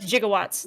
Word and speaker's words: gigawatt: Jigawatts.